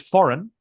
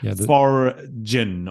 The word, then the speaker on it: foreign: of so they say Forin or something like that they kind of like yeah there's a silent G there in the middle silent G there so